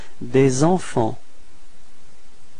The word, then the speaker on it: des enfants: So it's des enfants. Repeat. Des enfants. Okay, so final T and final S is not pronounced.